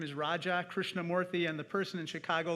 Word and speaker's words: Raja Krishnamoorthi: When I first ran for office, I said, my name is Raja Krishnamurthy, and the person in Chicago looked right back at me and said, Roger Christian Murphy.